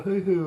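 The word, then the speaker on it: huhu: guys yeah i think we might throw a hoo-hoo in there for you george it's spelt h-u-h-u we'll figure it out john knows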